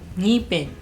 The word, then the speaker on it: ngipin: So for example, ngipin, you should put sing and then ngipin. So it's sing ngipin, sing ngunit, sing nguso.